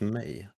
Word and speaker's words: mig: me no for me for me May it's pronounced May oh Mig May um but yeah um I'm